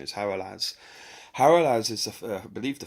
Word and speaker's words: Hagalaz: And if you reference the runes, really, the first stage of destruction is represented by Haralaz, okay, sometimes pronounced Hagalaz, but true pronunciation is Haralaz.